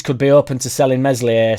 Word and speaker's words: Meslier: According to the Daily Mail, Leeds could be open to selling Meslier Silent S in January, which will be music to everybody's ears, I've absolutely no doubt.